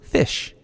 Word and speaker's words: ghoti: Well, the G-H can be pronounced like an F, as in rough, the O can be pronounced like I, as in women, and the T-I can be pronounced like a sh sound, as in nation.